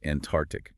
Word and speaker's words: Antarctic: However, the source confirms that in Antarctic, the first C is silent. It is pronounced Antarctic, dropping that middle C sound altogether. Really? So Antarctic?